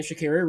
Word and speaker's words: Sha'Carri: Sha'Carri Richardson, and that's how you pronounce her name, Sha'Carri Richardson.